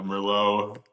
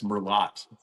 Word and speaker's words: Merlot: be released yet, but I had a Merllo. We were all bringing our own wine. I said, "It's Merlot, you know, very very Midwestern uh pronunciation of it."